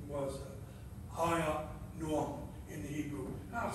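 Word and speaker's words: Ahinoam: His first wife's name was Hiya Noam in the Hebrew. I'll spell it A-H-I-N-O-A-M.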